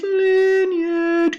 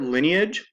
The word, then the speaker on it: lineage: So think of the word lineage. We don't say it lineage. The first syllable is that nice vowel, and then the second part is we kind of all put everything together like this.